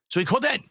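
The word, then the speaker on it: Suikoden: It's pronounced Sui Coden.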